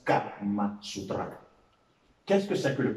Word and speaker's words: Kama Sutra: Au niveau de Sutra, ce n'est pas Sutra, mais c'est Sutra. Ce n'est pas non plus O-U, mais c'est U. Et ça se prononce Kama Sutra.